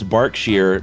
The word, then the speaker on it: Berkshire: a uh pronunciation key so you said sheer right sheer like yeah I said Burke not bark bark sheer so it's bark sheer but it's spelled Berkshire okay you get my drift